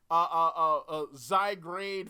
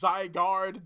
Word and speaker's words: Zygarde: All right, I always read it as Zygrade, but it's Zygarde.